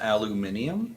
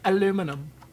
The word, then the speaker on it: aluminum: do it in aluminum believe that's pronounced aluminium okay no no no it's not Canadian dialect correct it's aluminum Les March thanks for